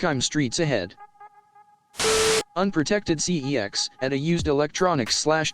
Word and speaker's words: CeX: I'm streets ahead unprotected cex at a used electronics slash games retailer whose name is pronounced as sex router I barely know